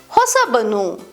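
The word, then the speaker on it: ಹೊಸಬನು: form hosavanu, the va sound changes to ba when forming hosabanu. This phonetic change is due to the natural tendency in Kannada to use ba when combining with avanu or similar forms for smoother pronunciation.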